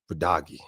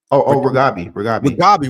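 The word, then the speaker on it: Reghabi: episode 6, is how do you feel about Radagi? Right? Is it how do you pronounce it? I always get her name. I always screw up her name. Wait, Radabi? Ragabi.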